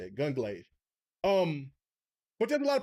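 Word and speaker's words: Gungrave: Gunglaive.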